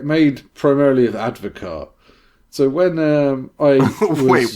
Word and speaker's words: Advocaat: It's spelled Advocaat, but it's pronounced Advocaat.